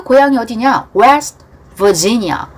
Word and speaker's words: Virginia: West Virginia. Virginia. V 발음.